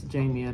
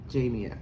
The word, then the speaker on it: Jamia: Yes, Jamia. That's how you say it. Jamia. Okay. It's like Jamie with an A, child.